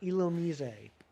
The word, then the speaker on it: Illumise: It's right up there, Mewtwo, with the correct pronunciation of Illumise. Illumise is apparently supposed to be pronounced Illumise, which is stupid, stupid, stupid. It doesn't even have an accent on the E.